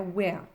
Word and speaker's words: where: Donc ne confondez pas where, que l'on prononce comme cela, where, avec un H qui signifie où, et were, sans H, que l'on prononce were, qui est le prétérit de be.